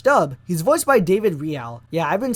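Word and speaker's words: Reale: In the English dub, he's voiced by David Real. Yeah, I've been saying it wrong all this time. Back then, I would always pronounce it as Relay, not Real.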